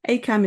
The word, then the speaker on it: ACAMH: ACAM is spelled ACAMH.